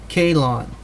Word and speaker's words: Helon: and Greek origin pronounced and phonetically spelled k-h-a-y hyphen l-o-n-e Calon the name is derived